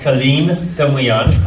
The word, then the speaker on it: Calin Tamiian: My name is pronounced Calin Tamiian.